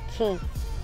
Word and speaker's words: Quay: Thì giờ mới phát hiện ra là không phải đọc là quay mà đọc là The Key.